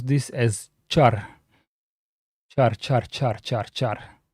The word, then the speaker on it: char: Pointer to a car or car pointer. Most people pronounce this as car, but minority just says car.